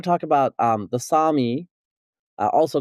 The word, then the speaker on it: Sami: okay so the the the Sami not the Sammy uh as I was saying earlier you you know you chastised me for mispronouncing it.